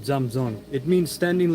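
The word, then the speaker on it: 站桩: It's spelled Zhang space Zhuang, but it's pronounced Zamzong.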